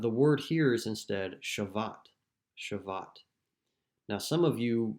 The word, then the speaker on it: shavat: The typical word is something that we would pronounce like nuach, but the word here is instead shavat.